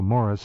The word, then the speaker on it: Maurice: He pronounces it, as we both know, Morris, but nonetheless, yes, yeah.